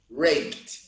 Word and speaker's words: raped: So if I want to change the past, I simply add D. But I'm going to pronounce raped.